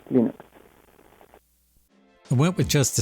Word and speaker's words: Linux: is L stals and I pronounce Linux as Linux I went with just